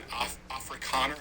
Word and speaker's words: Afrikaner: For example, we're talking about Donald Trump bringing in Afrikaner, I believe is how it's pronounced, refugees, because in September 2024, Ramaphosa signed